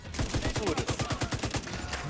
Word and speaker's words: sūris: How do you say cheese? Sūris.